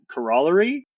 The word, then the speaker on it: corollary: math anecdote, but uh there's this word uh corollary, but uh my my uh undergrad adviser, he's from uh Vancouver, British Columbia, and he always pronounced it uh corollery, and I guess that's uh that's at least that region of Canada's way of saying it.